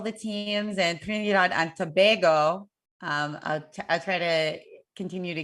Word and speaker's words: Tobago: Yes, we are rooting here for all the teams, and Trinidad and Tobago. I'll try to continue to get that right. Thank you. Tobago instead of Tobago.